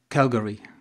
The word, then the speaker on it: Calgary: You've been to the University of Calgary. Am I pronouncing it right?